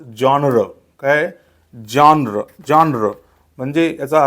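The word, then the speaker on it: genre: इ एन आर इ तर याचा उच्चार जॉनर वगैरे असा काही होत नाही त्याचा करेक्ट उच्चार होतो जॉनर काय जॉनर जॉनर म्हणजे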